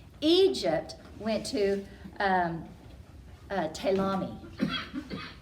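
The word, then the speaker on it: Ptolemy: about these guys Egypt went to um uh talami spelled with a p is pronounced talami and we're going to talk about him a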